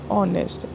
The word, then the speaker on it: honest: For example ऑनेस्ट, HONEST होती है spelling, but sound किसकी आती है? ओ की।